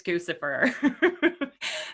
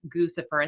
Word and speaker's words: Guccifer: is actually oh it's crucifer so Goose I'm assuming rhymes with Lucifer but whatever um in